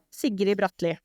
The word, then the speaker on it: Sigrid Bratlie: Is it but it's really difficult for foreigners to pronounce it in Norwegian. So in the English version, it was perfect. So, but in Norwegian, you would say Sigrid Bratlie.